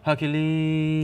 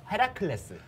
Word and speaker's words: Heracles: Is it Hercules? No. Good try. What is the correct pronunciation? Yes, it's in Korean pronunciation, it's Heracles. Heracles.